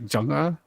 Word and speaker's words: Jung: Like, her name it's spelled Jung. it's like Junga, right? Yeah, that's pretty close. You know, like that's as close as it gets, and then -a.